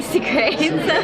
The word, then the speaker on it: Sucre: It's derived from the French word souk, and I decided just to be American, I'm going to pronounce it Sucre.